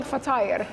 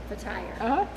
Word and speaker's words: fatir: This is what we call fatire. And then how do you say it actually? So it's like flat tire. Like flat tire. So fatire. Okay. Yep. Fatire.